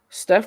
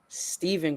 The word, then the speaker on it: Steph: So during their pitch, Nike's pitch, they p pronounced his name wrong. They said Stephven Curry, number one instead of Steph Curry.